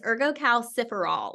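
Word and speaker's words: ergocalciferol: multiple presentations and still I still struggle with how to say it, but I fairly certain it's erggoal ciferol. It's the last part that always throws me off.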